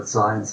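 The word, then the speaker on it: Zajonc: I know that's not how it looks on the slide, Z-A-J-O-N-C, but Dissonance is how it's pronounced, his name.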